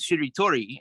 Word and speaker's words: shiritori: I usually begin with shiritori and that's three syllables basically she told uh four syllable right but uh then